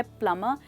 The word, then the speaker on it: plumber: Well दोस्तों, तो ये है प्लम्बर जिसमें कि बी साइलेंट है।